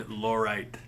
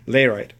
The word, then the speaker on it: Layrite: Do you recommend Laurite? Layrite. Layrite, I'm sorry. They didn't pronounce it. Okay. They write it right. Okay. You probably meant Layrite. L-A-Y-R-I. I do actually recommend Layrite.